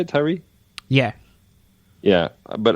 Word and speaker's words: Tyree: But I really did appreciate what Brian Tyree, is that how you say it, Tyree?